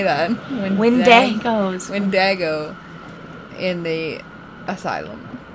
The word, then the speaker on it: Wendigo: Wendigos. Wendigo in the asylum. It's like Diego, but...